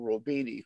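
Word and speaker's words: Roubini: Exactly what you said was really in an article that Noriel Robini, who is not a leftist, he's a main, Robini, you probably know him personally, don't you?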